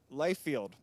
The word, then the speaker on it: Liefeld: writers here today right o in fact um Life field right that's how you pronounce it good all right I actually had